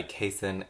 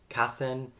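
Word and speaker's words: Kacen: felix ever after by cason calendar i've been pronouncing their name cassin in all my videos leading up to this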